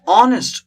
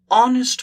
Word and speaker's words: honest: right so an orange honest look at this h is silent here honest man oh a we